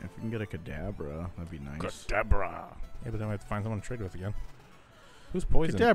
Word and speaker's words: Kadabra: His name is Kadabra. If you say it wrong again. What? What is it? Godabra.